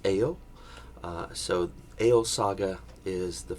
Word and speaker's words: Egil: and I know that it looks like it's eggle but it's actually pronounced Ayo so Ayo Saga is the first one that